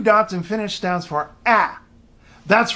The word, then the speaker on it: ä: a with two dots and finished stands for ah that's right ah that sound that English speakers tend to make when they should really be saying ah well in this case if you see a